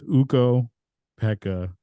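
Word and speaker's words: Ukko-Pekka: I said I think I said puka you said it wrong yeah wrong you know I'm wrong with names whatever I yeah you are yeah but it's uko Pekka Lucan Lucan he was really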